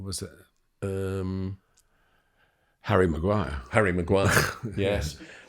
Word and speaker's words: Maguire: Harry Maguire, yes. And rhymes with the Dyer.